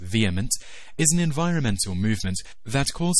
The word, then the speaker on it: VHEMT: The Voluntary Human Extinction Movement, or VHEMT, pronounced VHEMT, is an environmental movement that calls for all people to abstain from reproduction to cause the gradual, voluntary extinction of humankind.